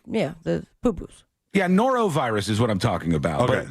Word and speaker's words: norovirus: where my brain goes are you saying it right what what am I saying wrong norovirus norovirus well you were saying neuro virus like like like neuro like in the brain o r o neuro